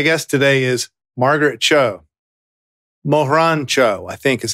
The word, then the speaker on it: Margaret Cho: lightning bugs my guest today is margaret cho mohrancho i think is how you pronounce it yes very good as a trail